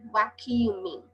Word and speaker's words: vacuuming: do the vac cuming vacuuming ออก เสียง ยาก หน่อย แต่ ว่า kum นะ คะ vacuuming เร็ว ๆ เป็น vac cuming vac cuming I have